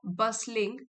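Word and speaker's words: bustling: T silent है बसलिंग with students.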